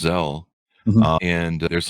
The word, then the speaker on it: Zelle: sent me an email about, I think it's pronounced Zelle.